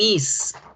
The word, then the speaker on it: is: escritos con s pero la pronunciación de ambos es con zeta no con ese entonces yo no voy a decir my name is my name is no